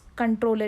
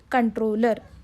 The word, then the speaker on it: comptroller: It is controller. It will be written as comptroller, but it should be pronounced as the controller.